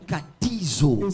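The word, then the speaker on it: καθίζω: C'est le mot grec katizo. Katizo.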